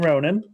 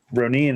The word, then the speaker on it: Ronin: I heard oh god, one of the GR guys pronounce it Ronin, and I was like, is that on purpose? And sure enough, apparently that is the actual way it's supposed to be pronounced.